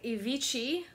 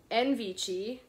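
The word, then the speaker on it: Invece: black patent leather bagged by Avicii no envichi and VC I don't know Italy this reminds me of the Arcadia bags this one is in beautiful condition I love it it's spelled i-n-v-e-c-e and it's all around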